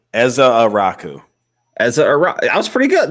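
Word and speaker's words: Ezeiruaku: It's Ezaraku. Eza Araku.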